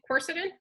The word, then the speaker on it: quercetin: about is quercetin so how you say it quercetin it's an antioxidant and it also has anti-inflammatory